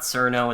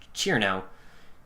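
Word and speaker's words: Cirno: Yeah, it's not Cerno. It's not Cerno. It's Cherno.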